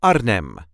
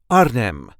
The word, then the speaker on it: Arnhem: accent the city of Arnhem, the capital of the province Gelderland. This is how we say Arnhem. Arnhem. There is a light emphasis on the first part.